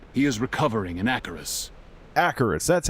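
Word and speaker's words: Acherus: Acheris, that's how you say it.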